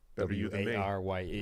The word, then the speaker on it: Warye: W-A-R-Y-E. Reading names. Yeah. Wary. There you go. Based off his actual @be wary of Blake. I'm assuming that's pronounced wary.